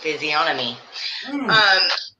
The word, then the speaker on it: physiognomy: On the controversial question of the night, I looked it up, and the G is silent in physiognomy.